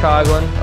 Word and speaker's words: Coughlin: Coughlin is the proper pronunciation.